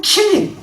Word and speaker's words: killing: 그러니까 healing, 긴 발음입니다. healing, 치유하는 단어가 있을 테고 healing이 아니고 killing, 이건 단음입니다. 짧게.